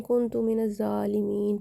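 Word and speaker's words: كنت من الظالمين: कुछ लोग एंड पे जो सेंटर में आता है ना, कुन्तु मिनज़ ज़ालिमीन, कुन तुम पढ़ लेते हैं, तो वो गलत हो जाता है।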